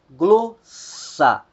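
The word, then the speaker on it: γλῶσσα: Nós temos também a palavra glossa, glossa. A que vai soar mais forte é a primeira sílaba, gloss, gloss, língua, idioma.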